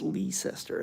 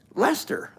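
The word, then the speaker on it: Leicester: how you pronounce it I don't think it's leester I think it's Lister but boy that's that's a tough one Lester oh okay Lester thank you for correcting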